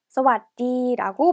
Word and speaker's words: สวัสดี: สวัสดี, สวัสดี라고 발음합니다.